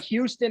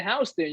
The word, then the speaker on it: Houston: So you're talking about Houston and Houston. We got Houston Street downtown, but if you're in Texas, it's Houston. It's spelled the same way.